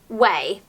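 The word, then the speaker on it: OUAI: I noticed that Jen Atkin, who is a celebrity hairstylist has released her new hair care range, which is spelt O-U-A-I, but apparently you pronounce it: 'way'.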